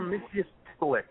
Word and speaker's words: Mxyzptlk: wanted to talk about, and I can never pronounce this guy's name, but the imp from the fifth dimension, I believe. Mr. Mxyzptlk.